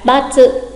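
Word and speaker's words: ばつ: Còn khi sai thì họ sẽ đánh dấu x và gọi là batsu, batsu.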